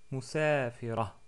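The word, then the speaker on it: مسافرة: Maintenant, on a le nom musafiratun. Musafiratun ou musafira.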